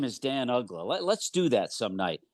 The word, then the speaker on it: Uggla: What was the weirdest pronunciation you heard for Dan Uggla? Oh, guys would say Ugla, and not so much pronunciation, but also because he was a Rule 5 guy, nobody knew who he was.